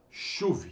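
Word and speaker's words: שוב: uma duas três letras se pronuncia chuve chuve significa retornar responder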